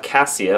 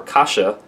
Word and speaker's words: cassia: They could have cassia or kasha, depending on how you want to pronounce it, in place of cinnamon oil because they look very similar in a test or molecularly.